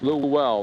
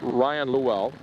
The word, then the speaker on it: Llewell: Yep, yes, Llewell. That's how you pronounce it. Ryan Llewell.